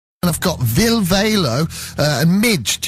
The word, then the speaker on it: Mige: I've got Valo and Mige. Is that how you say it? Mige?